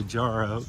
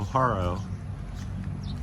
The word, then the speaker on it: Jaro: I always want to say Jaro because they spell it with J, but here in the Philippines it's H, so Haro.